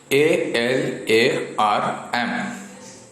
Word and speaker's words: alarm: Remember one thing here, ALARM. This is alarm. We do not pronounce the sound of R. R is silent letter in the word alarm.